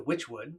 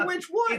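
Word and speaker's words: Wychwood: Well, Witchwood is they spell it W-Y-C-H, Oh, but now okay. they're saying it's from the Okay. word witch, Witch.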